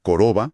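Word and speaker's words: корова: Al la letra o cuando no está acentuada. Se pronuncia más como una a corta, por ejemplo, coroba, vaca.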